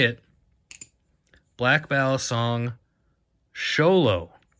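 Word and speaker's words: Xolo: it black ball song sholo x o l o is how this ballet is spelled I've heard this pronounced most of the time as cholo or Zolo uh pronounce it how ever you want I don't really care but according to Google this is the sholo and that's how you would pronounce it uh this knife is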